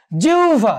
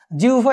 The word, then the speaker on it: জিহ্বা: জিহ্বা, দেখো জিহ্বা, এখানেও বয়ের যে মহাপ্রাণ উচ্চারণ সেটি হচ্ছে ভ, সেটি এখানে এসছে।